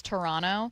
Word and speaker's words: Toronto: Been working on saying Toronto correctly except for when they find out it's Toronto. The second T isn't pronounced.